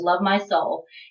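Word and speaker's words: lovemyseoul: pronounce your user name well I think everyone knows how to pronounce my username it's love my soul and I spelled Soul the way that you spell the capital city of South Korea that is where I'm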